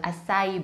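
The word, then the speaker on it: açaí: Nah, tulisannya acai berry dalam bahasa Indonesia, tapi dalam bahasa Inggris, pronunciation-nya adalah acai berry.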